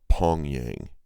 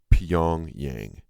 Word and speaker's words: Pyongyang: It's Pyongyang, not Pyongyang. It's Pyongyang. I heard Rachel Maddow call him out on that, and I really appreciate you for doing that, Rachel.